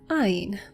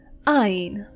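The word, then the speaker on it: עין: The next word is Ain. Ain.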